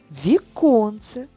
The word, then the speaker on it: віконце: наш букварик продовжуємо читання віконце наголос стоїть всередині слова тож віконце також пропустимо і останнє слово